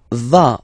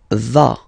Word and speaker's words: vas: Tu vas. Final S doesn't exist. Tu vas.